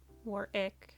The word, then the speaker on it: Warwick: Uh as Warwick would Warwick is actually how you pronounce his name.